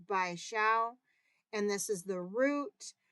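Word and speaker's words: 白芍: Next up, white peony root, which is pronounced bai xiao, and this is the root.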